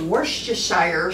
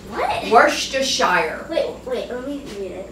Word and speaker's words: Worcestershire: It calls for Worcestershire sauce. Worcestershire. But it's called Worcestershire. Worcestershire. Everybody pronounces this different.